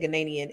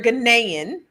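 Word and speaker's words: Ghanaian: Last night I said Ganaian and she had to correct me, but you're Ganaian. I gotta say it right.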